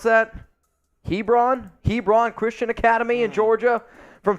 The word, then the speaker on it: Hebron: at Christian Academy in Georgia how do you pronounce that Hebron Hebron Christian Academy in Georgia from 2017 to 2019.